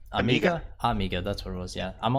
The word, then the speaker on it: Amiga: How do you pronounce it? Amiga, right? Amiga, that's what it was.